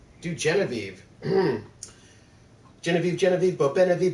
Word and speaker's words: Genevieve: Nate bird names do Genevieve mm-hmm Genevieve Genevieve bop NIV banana fanna fo fanna thief thief Faneuil men aviv Genevieve that one's not hard Genevieve Genevieve three syllables not that hard alright alright both are